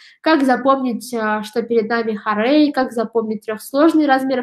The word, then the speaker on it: хорей: самом слове это первый слог да теперь поставим ударение в слове хорей х рейда здесь мы тоже видим ударение на